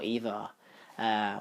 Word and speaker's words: EVE: We saw Eva, or Eve, depending on how you want to pronounce the name. I know it's Eve. He says Eva in the movie because he's a robot.